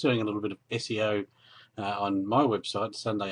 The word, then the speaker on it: SEO: uh so first off that is how it's pronounced SEO it's not CEO or so it's it's an acronym for search